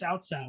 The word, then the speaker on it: Cao Cao: So I was playing a Dynasty Warriors game, and they're like, "Look, it's Cao Cao," and I'm like, "Oh, fuck, that is how you say his name."